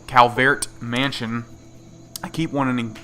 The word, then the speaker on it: Calvert: go to the C Calvert Mansion I keep wanting I keep wanting to pronounce it Cal but it's not um and the reason